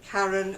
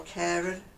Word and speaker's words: Karen: It's called the Gulf Coast Shrug, and it's by Karen or Karen, however you wish to pronounce it.